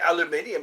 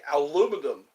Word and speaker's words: aluminium: an element and aluminium you're supposed to say aluminium because that's how it's spelled the lazy people say aluminum copper is also an